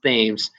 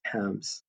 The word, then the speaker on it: Thames: notice here that thames it looks like it's pronounced thames but it's thames and number eight is cornwall so this portion